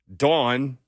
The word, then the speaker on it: Dawn: just don't want it she says I said say it like she's done like d-o-n like a dude she's in there uh